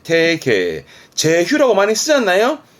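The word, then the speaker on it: 提携: 가는 히게 되겠습니다 요거는 제자라 재휴 응 제휴입니다 발음은 태계 태계 제휴라고 많이 쓰잖아요 뭐 기술 제휴라 그 함께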